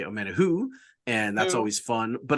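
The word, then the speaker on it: Omenihu: If I think of Always Sunny, I think of Dennis saying who, and then I can pronounce his name correctly.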